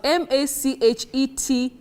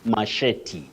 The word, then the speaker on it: machete: that word Betty is machetti okay masch m is it m you said machete right machetti okay the stress on the second syllable okay got it phis